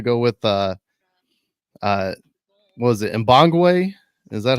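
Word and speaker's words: Mbongue: We're gonna go with what was it, Mbangwe? Is that how they said it in the stadium? Mabangu is the official SAFC pronunciation. Is it Mabangu? Sure. And on Toronto FC 2's media guide, it's Mbong.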